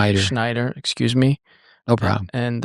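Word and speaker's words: Shnaider: So, a name that uh I've heard you throw around coach a lot is Diane Snider. I say it right. Schneider.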